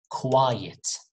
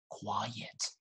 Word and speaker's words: quiet: q but quite but the first one quiet be quiet it's longer quiet and of course the